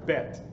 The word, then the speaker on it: Bet: You see that? And that's Bet. Put your little dot in there. If you don't, it would be pronounced Vet, with a V, Vet. We're not doing Vet today, we're just doing Bet. So you make a long line, and this has a B sound, buh, buh, B.